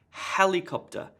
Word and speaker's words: helicopter: task gets the emphasis helicopter helicopter emphasis on the first syllable the other syllables have